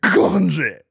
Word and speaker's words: Coventry: I dated a girl in high school who was from Coventry, I think. And she, Where? Coventry, England. I don't think you're saying that correctly. Coventry. You have to say it like, I think that's how you have to say it.